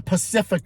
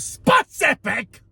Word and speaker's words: specific: I was being pacific about it instead of specific.